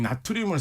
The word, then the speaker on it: 나트륨: 근데 리튬 바로 밑에 있는 게 바로 나트륨. 요즘은 이제 영어식 발음으로 소듐이라고도 많이 하죠.